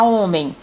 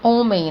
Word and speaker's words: homem: Por exemplo, na palavra homem, veja que se eu tirar o H bem aí e for pronunciar, eu vou pronunciar da mesma forma, homem, né?